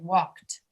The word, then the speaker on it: walked: You'll still do it this way, but you will not pronounce the E, and the D will sound like a T. So you say walked, walked, walked.